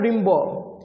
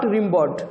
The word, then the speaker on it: Rimbaud: এই কবিতাটি লিখেছেন আর্থার রিম্বো। এর প্রোনাউন হচ্ছে জিন Nicolas Arthur রিম্বো। Hair D will be silent and it should be pronounced as রিম্বো, নট রিম্বড। ওকে, এটা প্রোনাউন্স করবো কীভাবে?